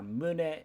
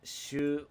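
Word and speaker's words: 宗: religion sect or denomination ways to pronounce this are mune shu or soul a religion sect or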